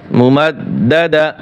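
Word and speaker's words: مُمَدَّدَة: মুমাদ, দাল জবর দা, মুমাদ্দাদা, তা দুই জের তিন, মুমাদ্দাদাতিন। এখানেও কি হবে, অক্ষ করলে হা উচ্চারণ হবে, ফি আমাদিম মুমাদ্দাদা, ফি আমাদিম মুমাদ্দাদা, ফি আমাদিম মুমাদ্দাদা, ফি আমাদিম মুমাদ্দাদা।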